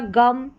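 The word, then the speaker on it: game: तो यहां पर देखिए गोट हो गया गम ये गेम। अब इसको जेम नहीं पढ़ेंगे।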